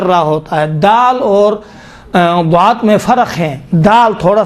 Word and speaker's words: ضاد: ہے، وہ ضاد ہے۔ ضاد کا تلفظ دیکھیں، تصور کریں ہم اوائل میں جب پڑھتے تھے یا صوت لحن میں جب کام کرتے تھے، عبد الباسط جب تلفظ کرتے تھے ہم کہتے تھے یہ تو غلط تلفظ کرتا ہے، دال کا تلفظ کرتا ہے، حالانکہ اس کا تلفظ صحیح تھا۔ وہ قاری ہے، مشہور